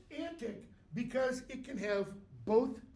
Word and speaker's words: antique: t i q e in Shakespeare's day our antique rhymed with that frantic antic all right and there's